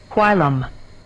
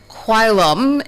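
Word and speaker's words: whilom: Quilum. Quilum. Quilum. Quilum is the pronunciation of our word of the day, spelled again W-H-I-L-O-M, and it's an adjective and it means simply former.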